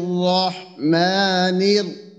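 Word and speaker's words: الرحمن: রজিমের ক্ষেত্রে তো এখানে যদি র এর উপরে তাসদিদ হয় আর উপরে জবর অথবা পেশ হয় সেক্ষেত্রে র টা মোটা হবে র এর যে দুইটা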